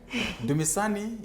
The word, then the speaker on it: Dumisani: How was the name pronunciation? Good try. Dumisani, you did it 100%.